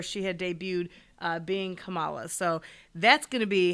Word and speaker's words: Kamala: i don't know why i always say her name on camelot kamala i don't say wrong